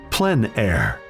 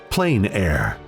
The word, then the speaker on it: plein air: open air or outdoors the French pronounce it plenn air others say plein air no matter how you